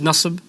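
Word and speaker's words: نصب: okay so in this case an apple is nusb outside is nus yesterday is nus quickly is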